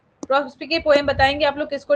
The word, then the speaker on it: Prospice: इसको बहुत लोग प्रोस्पाइस या कुछ और भी पढ़ते हैं बट मैंने तो प्रोस्पिके ही पढ़ा है, तो इसलिए मैं प्रोस्पिके ही प्रोनाउंस कर रही हूँ।